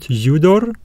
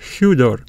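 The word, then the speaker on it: ὕδωρ: bring the H sound it's not udor udor it is HUD uh the breathing Mark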